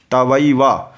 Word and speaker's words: तवैव: तवैव देख रहे हैं तव है तव नहीं बहुत लोग तव बोल देते हैं नहीं तवैव तव मया तवैव स्नेहेना